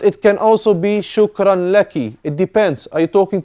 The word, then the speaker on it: لك: If you talk to a woman, it's shukran laki. Otherwise, it's shukran laka. Thanks to you. How about if you stop? Lak. Shukran. Lak. This is how you pronounce it, but not how you write it.